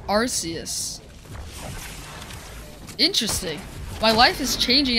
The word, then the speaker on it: Arceus: Arceus pronounced Arceus.